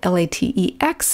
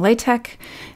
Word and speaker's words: LaTeX: Now, you might be wondering why it's spelled L A T E X. And I keep saying latte and not latex. The letter at the end of the word is actually not an X.